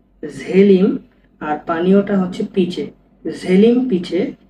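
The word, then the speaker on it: želim: আর পানীয়টা হচ্ছে পিচে, ঝেলিম পিচে। এই ঝেলিমটা দেখেন এটা জে উচ্চারণ হবে, জে ই এল আই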